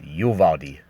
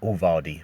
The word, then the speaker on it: Uvalde: in a city called Uvalde. Not Uvalde, but Uvalde. That's how it's pronounced.